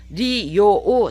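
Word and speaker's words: 利用: 기억을 해 주시기 바랍니다 리요오 삼음절어이지만 요를 길게 바로 마셔야 되는 거예요 리오라고 발음을 하셔야 일본인들이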